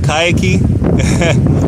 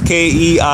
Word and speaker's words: Keiki: Is it Kayaki? I want to make sure I'm pronouncing it right. It's Keiki.